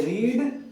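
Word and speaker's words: read: पर जब हम बोलते हैं तो उसमें आई रीड, रेड, रेड ऐसे पढ़ते हैं उसको, ठीक है, वो प्रोनाउंसिएशन में आ जाता है।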